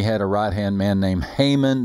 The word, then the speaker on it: Haman: a right-hand man named haman that always rhymes with hangman which is appropriate because